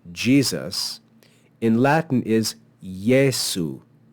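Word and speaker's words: Iesu: ye that first e that first vowel actually acts like the consonant y as as we say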